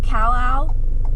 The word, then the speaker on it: CalOwl: I call it CalOwl because it uses AI, but the way it's spelled is with a capital I. So it looks like it says Al. CalOwl.